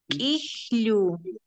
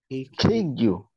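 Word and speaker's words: k'iru: Kijlu, Kijlu. Kikyu. No, Kijlu, tiene apóstrofo. Cuando Kikyu. tiene apóstrofo, va a ser así, Kijlu.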